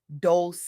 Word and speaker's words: Dolce: I'm your host, Dolce, pronounced doulce, uh, like sweet softness whispered in French, and I'm your guide